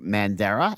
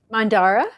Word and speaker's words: Mandara: it's by your group mandera am I pronouncing that correctly Mandara okay yeah Mandara so it's the a